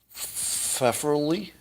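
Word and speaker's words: Pfefferle: don't know how to his last name starts with pf which one is silent the f for the p p f e f f e r l e fefferly preferably well anyway james preferably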